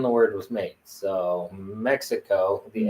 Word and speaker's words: Mexico: the H sound like Waka the x is an H sound so it's Waka or Mexico um because these are old words that predate predate the Spaniards um at least that's